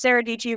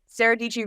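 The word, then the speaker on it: Sarah Dietschy: her videos she always says hey guys it's sarahi ryms with pachy because people mispronounce her last name all the time and because sarahi rhms with pachy is kind of her opening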